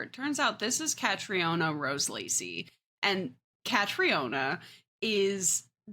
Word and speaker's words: Catriona: she recognize her, it turns out this is Catriona Rose Lacey, and Catriona is it pronounced Catriona? Is it Katrina? Katrina.